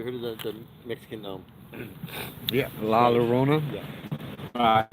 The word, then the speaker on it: La Llorona: But La Llorona. I think there's 2 L's in the Spanish language is fucking pronounced as a Y. Yeah. La Llorona. Yeah. La Llorona. It almost sounds like my Sharona.